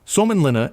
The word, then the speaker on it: Suomenlinna: Pronounced S-W-O-M-E-N L-I-N-N-A. Suomenlinna is a sea fortress on eight islands just off the coast of Helsinki.